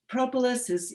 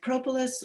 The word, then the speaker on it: propolis: So propolis collection, and I'll say that propolis can be pronounced propolis or propolis. Like sometimes we say potato or potato or tomato or tomato. I don't think there's a correct pronunciation.